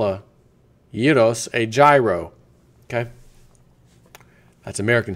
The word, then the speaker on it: gyros: are hardcore Americans you pronounce that as a gyro it's pronounced Yos give me a yo you can add the